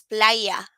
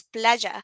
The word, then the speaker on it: playa: double L in Spanish, or the Y, it's called Y, it's pronounced like this, like J, like playa. So basically, for example, you can learn or you can read a word that has that Y and read it as playa, but no, it's not. It's playa.